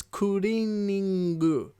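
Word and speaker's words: クリーニング: sign that says kingu so it's not cleaning it's kuring and it's spelled in the Katakana form um and because it's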